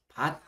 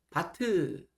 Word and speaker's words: 밭: 그래서 우리가 이제 밭 있잖아요. 밭, 우리 밭, 남의 밭, 고추밭, 뭐 호박밭, 이런 밭. 밭이 한 글자는요 자리에서 끝이 나 버려야 됩니다. 그래서 뒤에 바트 이렇게 뒤로 가는 소리가 아닙니다. 아침 소리는 그리고 일곱 개밖에 없습니다.